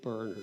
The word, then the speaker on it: Bernard: Now, do you say your name Bernard or Bernard usually? I say Bernard. Bernard, okay. Bernard is the American pronunciation. Okay, Bernard. Yeah. And So in Ireland, we say Bernard.